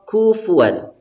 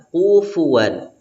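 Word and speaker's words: كُفُوًا: ya namanya mad shilah kesalahan yang sering terjadi juga ketika mengucapkan huruf Kaf ya di sini ya yang benar Insyaallah kufuwan termasuk huruf yang tipis maka dibacanya kufuwan kufuwan bukan puffan bukan ufuwan tapi kufuwan selanjutnya hukum tajwid ketika ada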